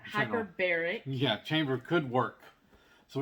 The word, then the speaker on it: hyperbaric: And then I even heard that maybe a hyperbolic chamber, how am I saying it wrong? Hyperbaric.